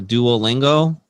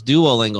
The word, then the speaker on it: Duolingo: And so there's this one called like a Duolingo. And I said it wrong. She's like, no, it's Duolingo.